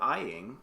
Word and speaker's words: Aying: It is a Doppelbock, and it is from Ayinger, Ayinger. They're out of Bavaria, from a little village called Aying, or Eying, if you know how to pronounce the word.